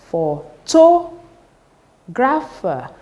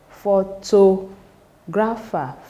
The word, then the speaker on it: photographer: 1 2 3 so the third syllable from the end that is anti penultimate cable should receive the stress for words that ends with e R so let's pronounce it together becomes photo grapher photo grapher photographer and